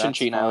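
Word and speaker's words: Cinccino: and Cincino? How do you say that? Oh, that's Chinchino is fine.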